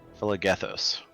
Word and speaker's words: Phlegethos: This one's hard to pronounce, so I need to always look at the pronunciation. Phlegethos. Phlegethos? Yeah, that one.